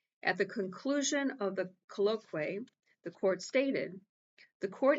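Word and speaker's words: colloquy: I like to pronounce words correctly. C O L L O Q U Y. Colloqu colloquay.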